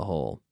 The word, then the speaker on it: whole: On the whole. So, on the whole, it's pronounced almost like on the whole, hole de agujero, but W-H-O-L-E. So not agujero, but whole as in entera, the entire thing.